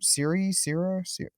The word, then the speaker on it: Cere: Seer, I think her name is. Yeah, it's spelled weird.